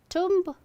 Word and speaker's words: tomb: Tomb? It's tomb. Tomb. B is silent. Tomb. Tomb, not tomb. You don't need to stress on the letter B or B sound, B sound.